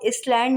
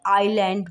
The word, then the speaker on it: island: जब भी एस से पहले आई आए, आई एस से पहले, तो एस साइलेंट हो जाएगा। जैसे अब ये कुछ डिज़ाइन है, ISLAND। अब यहाँ पर इसको इसलैंड नहीं बोलेंगे, आइलैंड बोलेंगे।